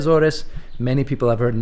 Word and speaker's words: Azores: island Sal Miguel today I'm in the aorus OR Azor depending how you want to pronounce it here they say aorus many people have heard